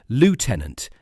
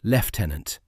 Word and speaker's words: lieutenant: Viewers in this audience can identify a lazy script from a single mispronounced term, "lieutenant" instead of "leftenant", a flat rendering of a mark designation.